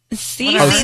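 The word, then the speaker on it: Sisi: But it's spelled with an S. Cece. S-I-S-I.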